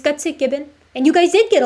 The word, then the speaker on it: Gutsick Gibbon: No, you guys got it right. That's true. It's Gutsick Gibbon.